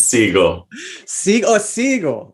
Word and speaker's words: Seigel: do you say it it's the you make the same sound as uh the animated image format how does that sound it's seagull oh yeah okay yeah just